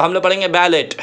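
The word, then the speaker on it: ballet: है दूसरे वर्ड में, इसमें हमको बैलेट नहीं पढ़ना है बल्कि उसको हम ई टी को प्रोनाउंस करेंगे ए में। क्या बोलेंगे? ए ए। सब पढ़ेंगे बैले बैले बैले। साउंड कैसा निकलेगा? ए।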